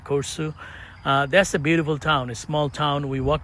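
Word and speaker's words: Korçë: K O R C E. That's probably how they pronounce it. Corsu.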